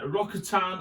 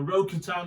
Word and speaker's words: Rokatan: sport and is the ftx uh rokitan or rokutan depending how you say it i like rokutan myself um and here it